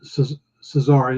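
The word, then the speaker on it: Czarnian: He is from a planet Caesar, and it's spelled C-Z-A-R, like Czar, Caesaran.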